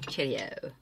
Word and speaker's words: Cherryo: It is a Super Shock in the shade Cherryo. Yes, I need to say it like that. Cheerio.